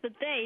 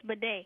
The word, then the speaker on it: Buffet: Okay, but my teacher's name is Miss Buffet, not Miss Bidet.